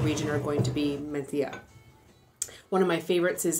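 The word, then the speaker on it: Mencía: So in Spain, they pronounce the C with a th. So mencia is how you would pronounce it in English, but mentilla is how they would do it in Spain.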